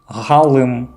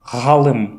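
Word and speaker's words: ғалым: Буква Г – твердый вариант буквы Г, звучит как Г. Галым – ученый. Почувствуйте, как произносится буква Г. Галым – ученый.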